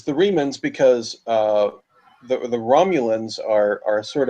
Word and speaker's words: Remans: The one mispronunciation I caught was Riemann. The Remans. Oh. So, you know the story of Romulus and Remus, right? The Remus was the slaves, right?